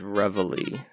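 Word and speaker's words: reveille: awaken today you go I think the pronunciation is revelry just revelry just so I don't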